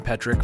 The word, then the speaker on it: Petryk: We're sitting in my house in Massachusetts, and got Petryk. Is that how you say it? Yep, Petryk. Yep.